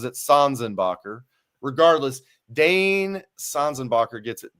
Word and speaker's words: Sanzenbacher: I do think he pronounces it Sanzenbacher.